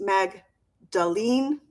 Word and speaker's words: Magdalene: heal and move on so her name is pronounced Magdalene and the gospels never call her specifically a